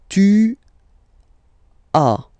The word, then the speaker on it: tu as: Second one, tu as. Okay. As usual in French, final s is not pronounced. Tu as.